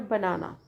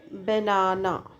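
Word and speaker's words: banana: फिर the word बनाना, third example है British में बनाना, तो ये क्या कहते हैं बनाना को, बनाना, और अमेरिकन बोलते हैं बेनाना, बिनाना, बिनाना, ऐसा, तो एच का प्रोनाउंसिएशन आ जाता है।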